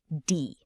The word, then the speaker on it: die: This one is D. Say it. D. It sounds exactly like the English word D.